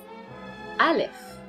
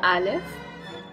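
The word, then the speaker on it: ألف: deal with the first letter which is Aleph I live and we pronounce it are so Aleph aa and we write it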